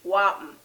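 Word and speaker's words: whapn: The first word is going to be wapen.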